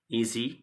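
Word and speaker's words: edgy: So next word is ईजी यहां पे D silent है। The word is ईजी।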